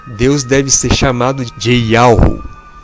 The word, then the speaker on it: YHWH: Yahushua está relacionado ao tetragrama YHWH, cuja pronúncia é Yahu, que significa Pai, ou seja, Deus, o Deus Criador.